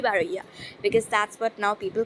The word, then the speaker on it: Baroiya: so people get confused but the accurate one i would say after a lot of research would be baraya because that's what now